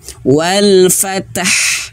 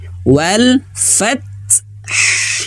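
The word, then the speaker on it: وَالْفَتْحِ: Jangan sampai bacanya wal fatah. Fatah tidak. Tapi wal fath. Nah, gitu ya. Tahan dulu huruf ta-nya, kemudian anginnya sedikit. Fath. Baru ha-nya.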